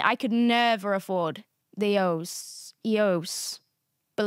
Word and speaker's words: EOS: So I did a panel for EOS. Do you guys know it's pronounced like that? I've been saying EOS for 12 years.